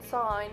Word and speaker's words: sign: G in sign must silent be.